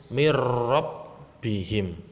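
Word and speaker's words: مِن رَبِّهِم: Membacanya karena ini idgham bila gunnah langsung masuk tanpa mendengung, mirrabbihim.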